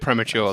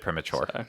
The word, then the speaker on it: premature: I was a bit premature though a little bit premature but why premature not premature you're putting the emphasis on the wrong salable okay so in okay